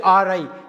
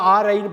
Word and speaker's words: awry: My plans went ஆரை, ஏடபிள்யூஆர்ஒய்யை டபிள்யூ கட் பண்ணுங்க, ஆர்ஒய்யை ஆர்ஐன்னு படிங்க, ஆர்ஐ ஏடபிள்யூஆர்ஒய்யை ஆர்ஐ, ஆவ்ரி கிடையாது, ஆரி கிடையாது, ஆர்ஐ, ஏடபிள்யூஆர்ஒய் வந்து ஆர்ஐ, ஆர்ஐனா திட்டம் பாழாகி போனது.